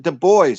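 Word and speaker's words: Dubois: Lawrence Debo not debois spelled exactly the same as deis Big D little U big b o i s but his family pronounced it de boys it was so strange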